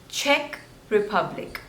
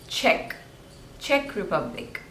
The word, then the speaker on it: Czech Republic: Croatia this one is Cuba Cuba two syllables and stress is on the first one Cuba Cuba Cuba next is Czech Republic check Republic Czech Republic Czech Republic Czech Republic next is